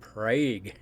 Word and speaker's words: Prague: they okay it looks if you read it it looks like Prague okay but this is Oklahoma so they pronounce it PRA there's Prague Oklahoma you